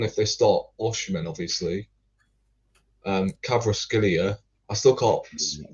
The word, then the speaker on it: Kvaratskhelia: Kvaratskhelia. I still can't pronounce the bloke's name.